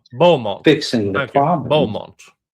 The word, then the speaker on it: Beaumont: Beaumont. You guys can't pronounce French spellings. That clearly says Beaumont if you have the French spelling, but no, Beaumont.